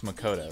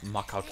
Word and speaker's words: Makoto: It's clear that the people voice acting this didn't know the pronunciations of Japanese names. The rest of you had no idea. Because it's Makoto, it's not Makoto.